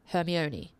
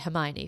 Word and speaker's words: Hermione: Potter as a 11-year-old I thought it was herion for a really long time because back then there was no social media no Google nothing right so I didn't know it was actually Hermione for a really long